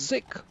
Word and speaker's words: Zike: it be turns out I had to ask them how to pronounce it and surprise it's Z so here's the deal